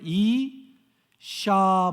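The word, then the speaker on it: אשה: 근데 신이 돼 있는데 밑에 우 발음처럼, 이 우리나라 우 받침처럼 이렇게 있죠. 우가, 그게 히브리어로는 아 발음이 납니다. 자, 시옷에 아 모음을 붙였어요. 어떤 발음이에요? 이샤 발음이 나죠. 이샤. 그 마지막에 헤이라고 이렇게 사다리처럼 생긴 한 가지가 뭐냐면 그것은 흐 발음이 나는 거예요. 그러니까 이샤 이렇게 되는 거죠.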